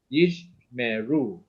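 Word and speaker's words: ישמרו: So in this case here, you can say this is one syllable by itself, yish, right? So when you have yish, then you have a beginning of a new syllable here, me. You see me, right? That's what you call the vocal schwa with the upside down e here, right? Yish meru, okay, yish meru, right?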